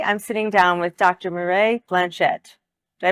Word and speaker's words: Mireille Blanchette: Mireille Blanchette. Did I pronounce that correctly?